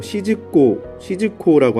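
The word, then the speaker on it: 静子: 정자는 일본 발음으로 시즈코라고 하는 여성입니다.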